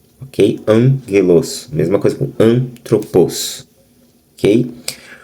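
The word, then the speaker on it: ἄγγελος: emângelos, mesmo sendo dois gamas, eh, elas, o primeiro gama soa como um ni, então ele fica an, ok? Angeloso, mesma coisa com antroposo, OK?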